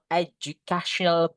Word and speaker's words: educational: Cara membacanya bukan educational butik tulis di sini guys ya. Cara bacanya ini adalah cara membaca ya bukan tulisannya tapi cara membaca. Aju cional. Educational. Ini cara membacanya ya. Educational. What is your educational? Not ad guys. They educational. Ingat-ingat guys. Mostly in English ketika ada d ketemu sama U. Huruf D ketemu sama U itu dibaca J mostly.